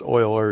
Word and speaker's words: Euler: now Leonard Oil or spelled e-u-l-e-r but pronounced oil or in Swiss or German was a mathematician who